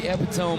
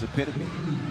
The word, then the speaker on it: epitome: Think it's epitome, but that's the way you would say it. Yeah, but maybe it's different pronunciations. Well, I I would say it with the French way, bro.